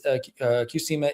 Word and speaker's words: Qsymia: That one's, the pronunciation might be a little bit off, but it's Qsymia is a combination of Phentermine and Topiramate.